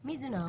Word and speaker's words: Mizuno: Mizuno. Is that how it's pronounced? Mizuno? Mizuno.